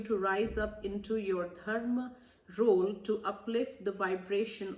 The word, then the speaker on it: Dharma: So let's read Dharma, or which is some of you all also call it Dharma, but the pronunciation is Dharma.